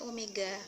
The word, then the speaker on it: omega: huruf w tapi ini bukan bacanya way tapi Omega hubungannya V sama Omega